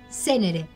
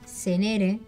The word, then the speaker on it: Zenere: Déjenme decirles que mi apellido no se dice de esa manera. Se dice Senere. Es Senere. muy fácil. ¿Y Como cómo si lo tuviese un dice? acento en la primera E.